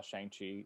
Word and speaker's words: Shang-Chi: ourselves so feel free it's it's shangchi everybody shongxi yeah but yeah since